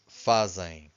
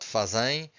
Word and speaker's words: fazem: Fazemos, fazem. Be careful because we stress this, the second to last syllable, okay? Almost all students will say fazem. It's not fazem, it's fazem.